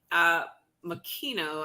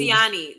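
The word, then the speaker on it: Moceanu: So we did Shannon Miller, Dominique Makino. I can never pronounce that one right.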